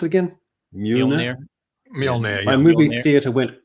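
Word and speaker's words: Mjölnir: How do you pronounce it again? Mjolnir.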